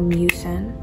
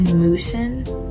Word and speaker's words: mucin: cosar x Advanced snail mucin in my last video I posted I said it wrong so forgive me for that I said moosen and girl I don't